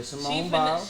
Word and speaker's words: Simone Biles: Yeah, Simone Biles.